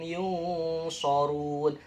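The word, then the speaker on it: ينصرون: Kata kuncinya itu sarung, tapi dibacanya sorun. Jangan sorung, tapi jangan sarung, tapi sorun. Walahum yunsorun.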